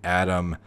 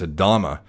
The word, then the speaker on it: Adama: Do you think Adam I keep saying Adam? It's Adama. At least I think so.